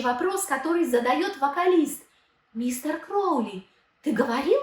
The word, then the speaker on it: Crowley: Кстати, правильное имя мага произносится через О, Кроули, а Оззи поет через А, Краули.